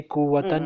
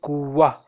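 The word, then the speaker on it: قوة: You see kuwatan, but you will not say kuwatan. Mm-hmm. It is a wrong. You will say kuwa. What will you say? Kuwa. Yes, it will pronounce like ha.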